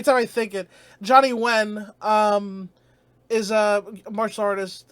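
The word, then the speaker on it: Nguyen: fighter uh Johnny uh when it has you know all the the the the Vietnamese have like the ngg U ye n spelling but it's pronounced when I think so Johnny when or when sorry I keep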